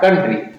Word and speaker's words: country: कंट्री। और कंट्री means क्या होता है? देश। कंट्री मीन्स देश। इसकी स्पेलिंग कैसे बनी है देखते हैं।